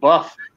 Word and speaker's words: Bath: The Flaming Tunnel says the way I put it, you have a wash and a bath, but you live in Bath.